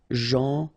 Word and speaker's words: gentil: Gentil. So it's a strange one because here this final L is not pronounced. Okay? Gentil.